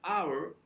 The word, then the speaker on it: hour: I only have an hour for lunch sounds like hour so an hour 8 is silent when you write it and also the pronunciation is not our so our is more